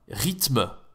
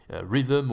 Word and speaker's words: rythme: Les multimédias, rythme. Voilà, rien que là-dessus, rythme, c'est pas facile la prononciation. Il va dire autre chose. Il va pas dire rythme, rhythm, ou il va le dire à l'anglaise.